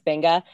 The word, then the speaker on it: venga: to my pronunciation so i'll say you know um instead of like uh i'm trying to think of like venga it's benga you know and stuff like